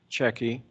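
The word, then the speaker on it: Cecchi: name for the record my name is jeff checky i'm here to speak against this proposal what's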